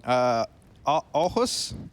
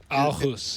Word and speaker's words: Aarhus: Like another one, Aarhus? Aarhus, yeah. Aarhus. And I'm probably butchering these. I think it is idea. Aarhus.